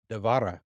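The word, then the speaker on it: דבורה: that happen to it has anyone heard of Deborah in the Bible her name would be devara so her name has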